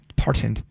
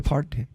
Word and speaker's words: Parton: Make sure you say her name wrong. Pardoned. Dolly Parton.